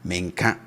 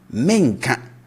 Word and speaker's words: menka: Menka, I don't see. Now, the future negative, we raise the tone at the start, right? So we say menka, menka.